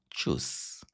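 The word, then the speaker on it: Tschüss: এখানে আমরা ব্যবহার করব চুস ওকে বানানটা একটু খেয়াল করবেন টি এস সি এইচ ইউমট এস এস ওকে চুস ঠিক আছে আর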